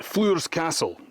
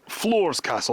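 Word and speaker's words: Floors Castle: That is Flor's Castle. Some people call it Flor's Castle. I've heard it pronounced both ways.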